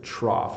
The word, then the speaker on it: trough: of their roof but you can see the gh sound here trough a trough ISM something that you have in a farmer's field where animals come to drink so this would be a water trough so slightly different sound so cough and trough haiquan vivan michael hi